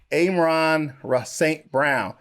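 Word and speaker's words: Amon-Ra St. Brown: uh let me say his name correctly again amron saint brown so adjuster routes scrambles to the open when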